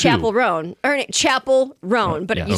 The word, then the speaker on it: Chappell Roan: Oh, you say it like it's one word. It's actually two. Chapel Roan.